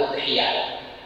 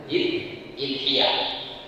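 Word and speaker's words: أضحية: Aludhiyah bidam alhamzah. Hamzati dengan di domah alhamzah. Alif hamzahnya didomah. Jadi bacanya udhiya ya. Waasruha boleh juga dikasrkan ee hamzahnya yaitu dengan kalau kasrah berarti bacanya adalah idhiah.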